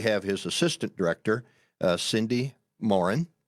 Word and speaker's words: Moran: and then we have his assistant director Cindy Morin pronouncing it right that's correct very good and she